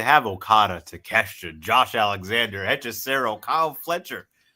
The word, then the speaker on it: Hechicero: What did you pronounce his name? Hechicero? Hechicero, thank you.